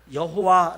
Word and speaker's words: 여호와: 나 중국어나 세계 각국 나라에서도 마찬가지 어떤 나라에서는 여호와 라고 반 업으로 하는 것도 있지만 어떤 것에는 야외 라고 발음하는 나라도 있어요 그러나 여러분 이렇게 하나님의 이름은